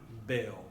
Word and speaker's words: veo: In español, this letter is pronounced as the B sound. See? So it's going to be more like ven, veo.